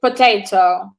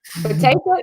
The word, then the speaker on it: potato: But it doesn't work the same with potato. Potato is potato, not potato.